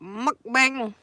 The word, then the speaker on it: mukbang: Mukbang. Mukbang. You have to say it like they say it. Mukbang.